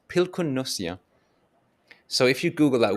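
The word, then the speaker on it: pilkunnussija: pronounced pilkunnosia.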